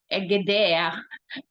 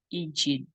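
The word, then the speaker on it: Egede: ni Hans EG Actually nung eged hindi pala ganon yung pronunciation niya ID ang life po ni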